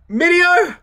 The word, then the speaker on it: Mineo: he pronounced the name andy mideo minio right andy minio that's that's right that's correct way yeah yeah yeah yeah